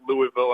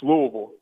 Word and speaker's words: Louisville: come down here and pronounce it Louisville, and just to kind of stab you and say, hey, it's Louisville.